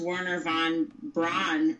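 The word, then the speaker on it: Wernher von Braun: The most famous was, I think it's pronounced Werner von Braun of the rocket program.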